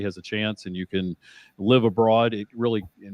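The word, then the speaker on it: Cannes: South where the film festival is that is can um Bay is the is the proper pronunciation but you are very close um did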